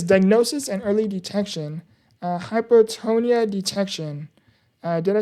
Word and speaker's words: hypotonia: Uh hypotonia detection. Uh did I say that correctly? Hypotonia. You got it. It's pronounced hypotonia, which refers to reduced muscle tone.